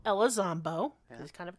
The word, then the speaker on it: Elizondo: Properly pronounced Elizondo. Elizondo.